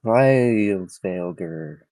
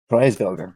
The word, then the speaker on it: Freisvelger: So much like the winds of Freisvelger, that I'm pronouncing incorrectly at this time. Freisvelger, there we go.